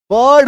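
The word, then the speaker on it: bird: नहीं हो रहा है बर्ड हो रहा है ठीक है ये देखो एक्चुअली में इसका उच्चारण क्या है ब + अ प्लस र + ड बर्ड जिसमें र का उच्चारण सेमीसाइलेंट है।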